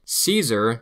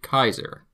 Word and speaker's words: Caesar: C is always hard, like a K sound, never an S or ch sound. Caesar is actually Kaiser.